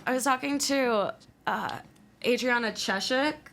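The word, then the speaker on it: Adriana Chechik: was talking to uh Adriana cheshek is that how you pronounce it yes she's like I've had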